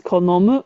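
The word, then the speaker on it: 好む: And this is the same meaning as saki, but it's pronounced as konomu when it's a verb like this.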